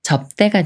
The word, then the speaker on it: 접대: 다음에 대라는 말이 와서 접대가 되는데요 이렇게 비읍 받침이 초성 디귿을 만나면 쌍디귿 소리인 뜨로 바뀌면서 접 때라고 읽어요 접대 접대 예문 읽어볼게요